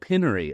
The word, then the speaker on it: Opinary: Opinary, like opinion. That's it. Opinary.